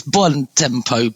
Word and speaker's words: Buontempo: It's Italian, so you get Did I pronounce it wrong? It's close. I think it's Buontempo, but my family's always ignored me.